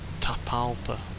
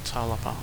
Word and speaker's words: Tapalpa: I think it's more Tapalpa, not Talapa, or whatever I was saying.